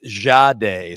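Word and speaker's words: Jahdae: And then went with the JB, but then they asked and they and they asked how to how to pronounce his name. It's Jade.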